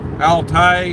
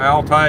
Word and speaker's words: Altai: And this place is at some park in the Altai, I don't know if I'm saying it right, Altai, A-L-T-A-I mountains.